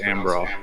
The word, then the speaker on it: Embarrass: It's spelled embarrass, but it's pronounced Ambra.